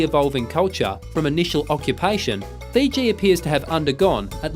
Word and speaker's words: Fiji: They called their home Viti, but the Tongans called it Fisi. It is by this foreign pronunciation Fiji, first promulgated by Cook, that these islands are now known.